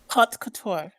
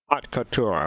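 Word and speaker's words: haute couture: J Watch how do you say it again hot Couture hot Couture okay Couture yeah and and how many submissions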